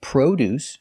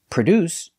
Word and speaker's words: produce: are two different words sometimes you say produce using the long o produce is another name for fruits and vegetables and produce spelled exactly the same but pronounced differently is the verb to manufacture products produce we cannot say